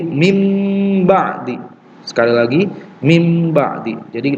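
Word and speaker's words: مِنْ بَعْدِ: Mim ba'di ma ja'atshumul bayyinah. Nah, nun sukun bertemu dengan ba, cara membacanya dengan mengganti nunnya dengan mim. Jadi mim ba'di.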